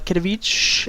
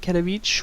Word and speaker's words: Katowice: IEM Katowice, I believe is how it's pronounced.